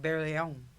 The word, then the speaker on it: Barelyon: just like huh Oh first he pronounced it like in a French way like barely own yeah oh my go that sounds actually kind of cool we listed barley on cuz we both like